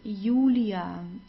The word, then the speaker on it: Julia: and then we have the J which is pronounced like the English y so it's not Julia like in English it's Julia Julia okay Julia there